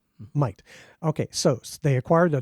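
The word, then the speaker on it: Mayht: May-Heat. That's yes. right. To the American eye, it looks like May-Heat. It has been proclaimed. It is pronounced like we pronounce the word might. Might.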